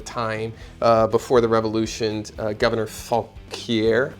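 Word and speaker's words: Fauquier: before the revolution, Governor Falquier. I want to say that's how you pronounce his name. It's Falquier.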